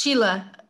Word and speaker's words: Cheila: You can say it in English, Cheila. Cheila.